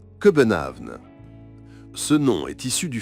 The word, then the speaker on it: København: Les Danois prononcent le nom de leur capitale, Copenhague, sous la forme København.